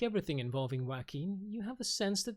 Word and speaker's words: Joaquin: free to correct me wacky like Joaquin Phoenix okay um taneema makes